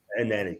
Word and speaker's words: Elneny: You've got Elneny. Is it Elneny? Elneny. That's it. Elneny's one of them. I'll pronounce that at the end.